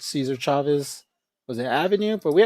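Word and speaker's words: César Chávez: Cesar Chavez And also, the I think the proper pronunciation for Latinos is Cesar Chavez. I know a lot of people say Cesar Chavez.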